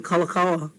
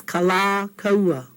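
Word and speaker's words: Kalākaua: dig it too much if you called him Kalakaua. I think That's kind of, not nice, not pono, not good. Okay? It's kala kaua.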